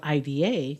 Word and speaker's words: Ida: Because my name is spelled IDA, and in English they'll say Ida, and it's not Ida, it's Ida.